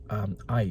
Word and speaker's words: Ai: along with all of its inhabitants, was a city called Ai, or Ai, or A. Anyway, it's Ai. So I think it's supposed to be pronounced I.